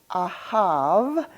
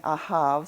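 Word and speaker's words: אהב: That can be, it's a bet, but it can be pronounced either as a bet or a vet. All right, and I'm saying ahav, so I'm calling it not a bet, but a vet.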